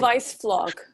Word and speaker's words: Weissflog: If you'll go look at the Germans, Hans, how does he pronounce it, Stephanie? Weissflog.